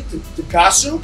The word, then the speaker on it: tonkotsu: We got our tonkotsu broth. Okay. It's going on a boil right now. How do you say tonkotsu?